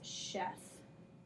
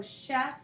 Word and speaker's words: chef: S sound almost, and it sounds almost like it should be spelled like this, chef. But we know just from exposure that CH can also make a sh sound. So chef is a closed syllable.